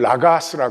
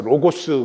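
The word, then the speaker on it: λόγος: 그러면 기독교는 법이 있어요 이걸 라가스 해요 우리는 이제 현대 발음을 따라서 로고스 그러는데 라가스도 법 길 그런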